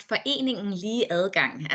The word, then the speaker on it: Foreningen Lige Adgang: It's pronounced foreningen lige adgang in Danish, but equal access.